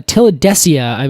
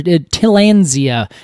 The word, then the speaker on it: Tillandsia: It's a Tillandsia or Tillandsia. I always add like another syllable to that.